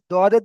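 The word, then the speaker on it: ضاد: তো যদি আপনি ডাইরেক্ট জদ বলেন, তো এটা ভুল হবে। আর যদি দদের দিকে চলে যায়, তো এটা ভুল হবে না। তো ওই জন্য করে এখানে আপনি উচ্চারণ করবেন দদ।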